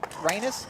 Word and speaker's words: Rhinus: I think that's how you say it, right? Rhinus, not Renus. I always say Renus, but I think it's Rhinus. I'm pretty sure it's Rhinus.